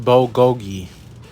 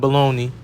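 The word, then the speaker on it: bulgogi: really so it's actually pronounced boogi all right not baloney boogi and vegetables uh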